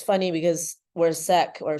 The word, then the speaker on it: Sikh: That's like, if I'm Punjabi, which it's funny because we're Sikh, or Sikh, is how some pronounce it, and it's not supposed to be